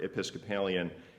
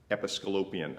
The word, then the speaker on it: Episcopalian: I didn't know any Episcopalians back then, and in fact, the first time I encountered the word Episcopalian, I mispronounced it. Episcolopian, I said.